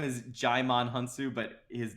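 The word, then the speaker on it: Djimon Hounsou: be better for everyone she offers a $10,000,000 digimon hunt sue is his black friend I guess his name is Digimon hunt his movie is I'm sorry his name is Jai Mon hounsou but his name is essentially spelled like did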